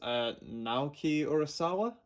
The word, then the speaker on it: Naoki Urasawa: Naoki Urasawa, I believe is how you pronounce that, is apparently like an amazing, an amazing mangaka.